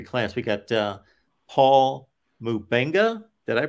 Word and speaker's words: Mubenga: for this 2023 class we got uh Paul mubenga did I pronounce that right yep another offense of linman